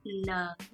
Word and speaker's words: 能: Next up we have néng, pronounced in the second tone, and néng generally means physically able to do something or a situation allows for something to happen.